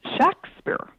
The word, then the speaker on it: Shakespeare: was um John shaur actually the name was pronounced if you look in the the documents of the period the name was pronounced shakspeare um with a short a it was rarely spelled